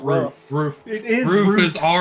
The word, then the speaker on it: RUF: What It's the not hell's a roof. Roof. It is Roof is ROOF. I'm telling you, it's pronounced roof, but go ahead. It's rough.